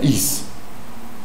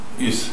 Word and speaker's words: EES: Is. Is. Genau. IES, IZ? IES auf Englisch ausgesprochen.